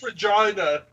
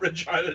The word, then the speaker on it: Regina: Oh, I will never forget about Troy comes in, it's Regina. Nope, it's not Regina, Troy, but thank you.